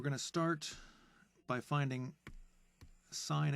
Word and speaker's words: sine: This function here is it's pronounced sine theta. Now, it's spelled there sin, but that's just an abbreviation. It's not really pronounced sin or spelled sin. It's actually spelled sine with an E.